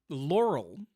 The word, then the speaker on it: Laurel: Laurel has less high frequencies, or is it Laurel?